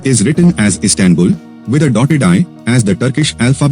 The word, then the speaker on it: Istanbul: dotted and dotless eye in English the stress is on the first or last syllable but in Turkish it is on the second syllable a person from the